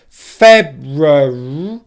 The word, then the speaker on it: February: So the word so far up to here is February, February, February. Again, R sound, but again, make sure your tongue does not touch the roof of the mouth.